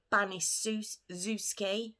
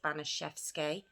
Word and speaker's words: Baniszewski: baniszewski now i'm saying baniszewski because the spelling it's spelt bunny zusky with a z apparently it's it's uh polish